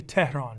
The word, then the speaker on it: Tehran: the concept is it's it's Persian so it's it's actually Tehran right but as long as you get the concepts in there I'm happy okay just like terror you know when Brody